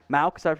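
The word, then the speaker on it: Mauch: I did Cody Maux, is how it's pronounced, last time.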